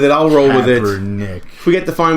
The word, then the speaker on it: Kaepernick: He says that he himself won't sit, but he agrees with Kaepernick's...